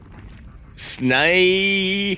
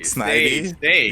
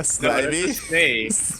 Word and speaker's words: Snivy: Snavy. Because it's like Bill Nye. Sny, yeah. Sny. Snivy. Yeah, Snivy. Because it's like Bill Nye. Snay. It's SNYE-VEE. Snivy.